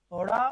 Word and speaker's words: ओढ़ा: ओढ़ा ओढ़ा, डा ढा नहीं है। कुछ लोग इसको डा और ढा बोलते हैं, तो ये डा और ढा आपका नहीं होता, ये ओढ़ा ओढ़ा, याद रखिएगा।